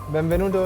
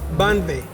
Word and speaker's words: benvenuto: Benvenuto in Kenya. Benvenuto. Benvenuto. Benvenuto. Banve. No, benvenuto.